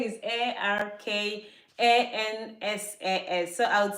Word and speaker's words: Arkansas: Arizona Arkansas actually Aransas the way I pronounce it before was like AR cancers cuz that's how you spell it the spelling is a r k a n s a s so I would say